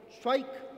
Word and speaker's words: Cwaik: Vamos a empezar con Schweik. ¿Lo pronuncié bien?